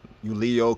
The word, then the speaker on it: Julius: name the J right that J actually being pronounced as a y right in Latin it would not be